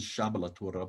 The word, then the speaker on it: Sablatura: Sablatura, right? That's good. And it's actually supposed to be pronounced as Sablatura, but Sablatura, Sablatura.